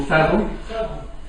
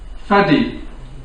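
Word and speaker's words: Fadl: Khid Abuel Fel or Felad Felad should be fad. So you don't pronounce the L.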